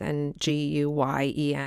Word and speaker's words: Nguyen: I think it's pronounced Nguyen. It's Nguyen.